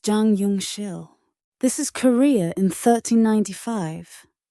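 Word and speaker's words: Jang Yeong-sil: His name was Jang Yong Sil, pronounced Jang Yong Shill.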